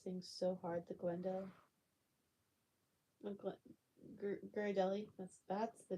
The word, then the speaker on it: Ghirardelli: Glendahill? Ah, shucks. It's nothing. But you're welcome, Ashton. I appreciate you too. Um, yeah. I used to down those things so hard, the Glendale. Ghirardelli. That's the name. Ghirardelli.